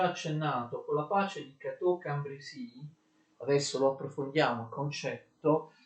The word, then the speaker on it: Cateau-Cambrésis: Attenzione, la pace di Cateau-Cambrésis si pronuncia Cateau-Cambrésis, vedete C-A, ok? Non si pronuncia come alcuni fanno Chateau-Cambrésis.